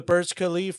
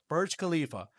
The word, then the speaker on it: Burj Khalifa: So, yeah, that was the Burj Khalif. Uh, is that how you say it? is how is no one have the name up here? Yeah, Burj Khalifa.